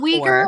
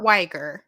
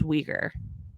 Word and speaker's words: Uyghur: So speaking of that, we have 4 Survivor players, starting with Carolyn Uyghur. She placed 3rd on Survivor 44. Is it Uyghur or Weiger? From what I've heard, it's Uyghur.